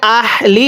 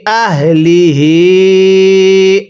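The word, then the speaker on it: أهله: ফাইয়াজের ফি হামজা হা জবর আহ লামজের লি আহলি এই গোল হা গুলো উচ্চারণ করার সময় গলার মধ্যে আওয়াজ করবেন। এখন যদি এখানে আহলি এরকম ভাবে পড়েন তাহলে পড়াটা শুদ্ধ হবে না। তাহলে আমার সাথে পড়ুন। আহলিহ আরেকবার আহলিহ মিম সিন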